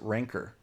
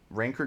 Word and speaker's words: Rancor: I think that the the word ranker is how it's pronounced. But the monster in Star Wars is the rancor. Eh, slightly different pronunciation, but even just putting